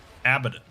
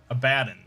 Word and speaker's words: Abaddon: You can also look at my video whenever I pronounce Abaddon, or Abaddon.